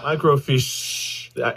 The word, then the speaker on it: microfiche: Microfiche. Emphasis is on the sh. Microfiche.